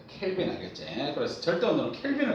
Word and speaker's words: 켈빈: 그래서 절대 온도는 K라고 쓰는데 K라고 읽으면 안 되고 뭐라고 읽어야 돼? 켈빈이라고 읽어야 된다. 켈빈 알겠지?